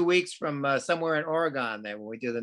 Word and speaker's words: Oregon: from uh somewhere in oregon there when we do the next uh uh talk back all right make sure gary while you're there make sure you say oregon not oregon okay all right or